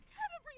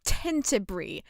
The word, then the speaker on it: Tenebrae: She says Tentebree. There is not another T.